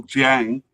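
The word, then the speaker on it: Dieng: We have a definite candidate in Aliu Dyang and uh the announcer in the cup called it like one syllable Jang. Um there I tend to say like Dang uh a likely candidate in um Mohamad Chimera.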